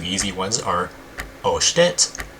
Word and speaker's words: 押して: So first, the 2 easy ones are oshite, which means press it. So when you hear osh with an O at the beginning, that means to press it, and it's only 2 syllables.